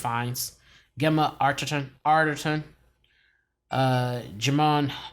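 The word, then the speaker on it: Fiennes: starring ralph of uh i think it's pronounced fines gemma archerton arterton uh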